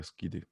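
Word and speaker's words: SCID: 결핍증, Severe Combined Immunodeficiency, 이렇게 해서 스키드라고 읽습니다. 스키드.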